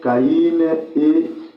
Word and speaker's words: Caïn: Moi je dis Caïn parce que je vois là les i là avec les trémas.